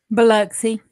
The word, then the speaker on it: Biloxi: Biloxi.